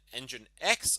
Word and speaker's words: nginx: doesn't seem to be affected by this and engine X also doesn't seem to be affected by this